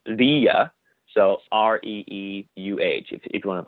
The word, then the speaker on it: Ra: movie is that so the god Ra is a very anglicized pronunciation of what they originally would have called the god. In Coptic, I believe it's pronounced Rea, so R-E-E-U-H, if you